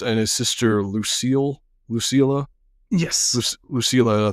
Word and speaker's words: Lucilla: And that's when Commodus and his sister Lucilla, yes, Lucilla, I believe is how you say it, they show up, and that's when very pompous Commodus shows up.